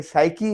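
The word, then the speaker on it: psyche: Pneumonia है, ये जो लंग्स की बीमारी होती है, इसमें पी है, राइटिंग में तो है लेकिन इसमें प्रोनाउंस नहीं होगा। और ये साइकी है, जो सोच होती है, पी इसमें साइलेंट है, फिर साइकी नहीं पढ़ेंगे, साइकी पढ़ेंगे।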